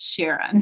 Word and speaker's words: Charon: like okay you can name it caron but you need to pronounce it sharon so that's why who